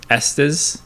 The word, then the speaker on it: Estes: not rhyme with testes does not rhyme with testes but it's also not s estes wait it's yeah so